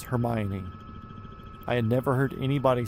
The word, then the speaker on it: Hermione: It's just like um when I read Harry Potter as a kid, um I always read the girl's name is Hermione, but it's Hermione.